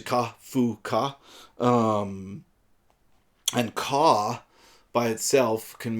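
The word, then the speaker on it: カフカ: The name Kafka in Japanese is pronounced Kafka, and it's actually Ka-fu-ka, and Ka by itself can mean possible or good.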